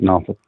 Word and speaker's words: Norfolk: And every Sunday I would fly out of Norfolk and go, and yes, it is pronounced Norfolk, and go out to Orange County. And on Thursdays, I'd fly back, all right, through Atlanta and back up to Norfolk.